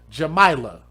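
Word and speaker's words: Jamaylah: Jamaa is spelled J A and then May la. Jamila.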